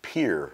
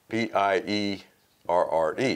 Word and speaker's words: Pierre: when you hear the locals, it's Pierre, like Pier Park. Okay. But it's P-I-E, R-R-E. Yeah, so we would school, all say we learned it Pierre, but they say Pier. Pier, okay. All the locals say Pier.